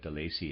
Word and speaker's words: Delaisi: I'm pronouncing that De Lacy, it's spelled Delaisi, readers aside.